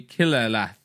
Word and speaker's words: Qillallath: So the name is going to be Killerlath. Quillerlath. I'll post it in the Discord so you can see how this is spelled.